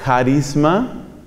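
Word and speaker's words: χάρισμα: carisma viene del griego en griego es carisma se escribe con una letra que suena como la jota española carisma carisma es la misma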